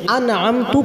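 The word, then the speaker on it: أَنْعَمْتَ: আরেকটি দেখুন এর এক হরকতের স্থানে অন্য হরকত উচ্চারণ করা যেমন আন্নামতা আন্নামতা আগেরটা পড়েছি হরফে এখন পড়বো হারাকাতের আনআমতা এখানে আনআমতা আছে আনআমতার তাই আমরা জবর না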